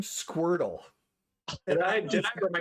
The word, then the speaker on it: Squirtle: a point of clarification is it squirtle or are we mispronouncing it no it's squirtle he calls him squirtle